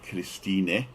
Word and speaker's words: Christina: And this is my wife, Christina. It's spelt like Christine, but it's Christina.